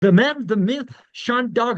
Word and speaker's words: Sen Dog: And just so you know, my name is pronounced Sen Dog, not Sean Dog, but that's a mistake that people make all the time, and it's quite all right.